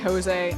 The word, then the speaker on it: Jose: Also, I know I said Josie instead of Jose.